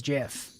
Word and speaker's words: GIF: It literally is GIF. That That is how it's pronounced.